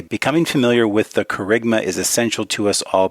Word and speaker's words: kerygma: Am I pronouncing that? You are, yeah, right? kerygma.